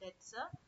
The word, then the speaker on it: debt: So similarly in between the short-term debts u and long-term debts there's also called mediumterm debt also. The next category is irredeemable and irredeemable debts. So remember to pronounce debt properly. B is silent.